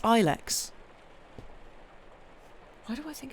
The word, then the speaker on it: Ilex: Oh, I've in that case, maybe it is Ilex. I don't know. I feel like because my mum's a gardener, and I feel like I've heard. The English pronunciation is long I.